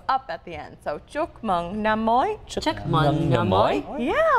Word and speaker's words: Chúc Mừng Năm Mới: Chúc Mừng Năm Mới.